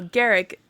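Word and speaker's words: Garak: Just think Derek with a G. Yeah, I know. Garrick. Yeah, Garrick sees a Kardashian boy on Deep Space 9 who looks 30.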